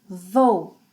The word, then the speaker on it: vou: So, eu vou, two sounds, vou, vou. Você, ele, ela, a gente, vai, two sounds, vai, vai.